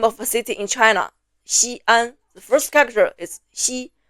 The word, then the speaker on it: Xi'an: One for Xi and another one for An. Don't write them like this. If written like this, people would read Xian and not Xi'an. These are two individual syllables, not one.